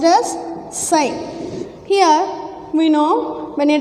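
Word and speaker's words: ψ: This dielectric susceptibility, indicating with the letter psi, it is written as this and pronounced as psi.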